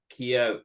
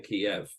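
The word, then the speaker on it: Kyiv: than me that um Kiev is the Russian pronunciation of the city so to call to to pronounce it like that is a bit of uh you know an insult to them especially with with what's going on there now so it's ke all the new sites here call it ke pronounce it ke now I don't think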